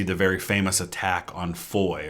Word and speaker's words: Foy: very famous attack on Foy or foes it's pronounced over there in Belgium they show an